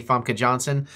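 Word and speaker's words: Famke Janssen: although it was interesting they didn't show any fomka Johnson that's how you say it in there at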